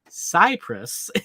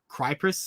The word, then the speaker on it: Cyprus: um pointing out that I completely mispronounced Cyprus in my video last weekend when I was talking about Hasbro pulse EU I said like crypress or I don't even know what I said ROM and I knew